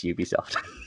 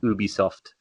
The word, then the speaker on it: Ubisoft: Is it Ubisoft or Ubisoft? Ubisoft. Yeah, it's Ubisoft. It's totally Ubisoft. Although it's a French company, so if I'm being really picky, it should be Ubisoft.